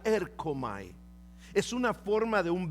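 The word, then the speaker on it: ἔρχομαι: es una forma de un verbo que se pronuncia erkomai.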